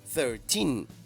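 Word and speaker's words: thirteen: Es importante tener la sílaba tónica en tin, ¿ok? No en thir, sino en tin. 13.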